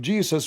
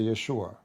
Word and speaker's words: Yeshua: a note uh and the correct way to say the word actually to say Yeshua Yeshua or Yeshua not even Jesus in English so lu the likeness of Jesus with Allah as his likeness of Adam.